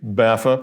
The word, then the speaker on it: BAFA: B AFA, BAFA, pronounced BAFA, as if there's a double F, and other acronyms.